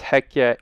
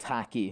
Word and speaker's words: Hekya: And it's Hekya, Hekkya, no C. Not hacky.